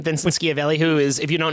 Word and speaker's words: Schiavelli: Vincent Schiavelli, I think is the pronunciation of the last name. Vincent Schiavelli, who is, if you don't know that name, you have definitely seen him.